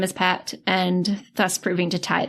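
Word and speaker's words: Phat: Wait, his name is Patch? Pat. P-H-A-T is how they typed it, but it's pronounced more like Pat.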